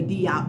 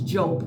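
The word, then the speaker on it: Diop: joke some people say d out but it's joke it's d-i-o-p right uh the d i is pronounced as J okay uh he's a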